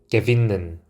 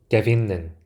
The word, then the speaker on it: gewinnen: 이 W가 V 발음이 나게 됩니다. 그래서 이 W도 독일어 알파벳으로는 V라는 이름을 가지고 있습니다. 단어를 하나하나 읽어보겠습니다. Wir, wir. 그 다음 Klavier, Klavier. 네, 피아노란 뜻입니다. gewinnen, gewinnen.